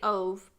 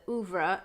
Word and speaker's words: Ove: I say Ove, but I believe the audiobook said oeuvre. And then they pronounced it, I think, a little bit different even on the, because it's just OVE on the movie.